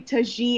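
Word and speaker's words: Tajín: Latinos comments like that's Tajin and they would like put a napkin on it or people will try to spell it phonetically and the next video and she was like guys it's actually touchy and whoa okay go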